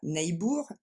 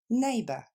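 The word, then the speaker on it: neighbour: mot pour traduire voisin on va pas dire nebour et on va dire na et on décompose encore une fois na plus rapidement Naba dernière fois Naba 4è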